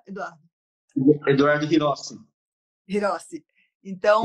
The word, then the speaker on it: Hirose: Eduardo Hirose, que pronuncia, Eduardo? Eduardo Hirossi. Hirose. Então, Hirossi.